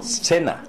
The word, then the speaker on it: Cena: 거기 보시는 대로 C자는 발음이 두 가지죠. 원래는 쌍 기역 발음인데 뒤에 모음이 E자나 I자 오게 되면 쌍 숏 발음으로 바뀐다는 걸 기억하세요.